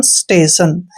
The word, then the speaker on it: station: Next word फिर से देखिए, STATION, इसको पढ़ते हैं हम स्टेशन।